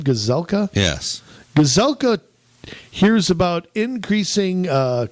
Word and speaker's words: Gazelka: Gazelka?